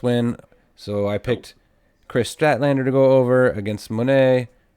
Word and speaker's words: Statlander: was Mercedes Monae against Chris statlander which I keep pronouncing wrong as Strat Lander so my bad on that on previous episodes and I was hoping